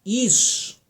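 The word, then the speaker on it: אִישׁ: La palabra varón en el hebreo es la palabra ish, I-S-H, se pronuncia más o menos ish.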